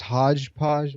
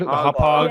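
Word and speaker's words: Hauppauge: How's it pronounced? Hodgepodge? What? Hopog.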